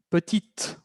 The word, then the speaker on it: petite: Va a ser petite. Vamos a escuchar una T al final.